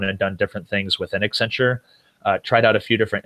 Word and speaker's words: Accenture: Accenture. So it's supposed to be like accent on the future.